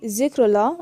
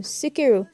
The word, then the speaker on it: Zikrullah: Some will take Zikrullah and change it to Sikiru.